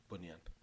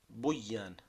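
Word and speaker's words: بنيان: is built, a building, bunan, right? from the root bony. If if you do here, instead of pronouncing it bunan, it becomes buan.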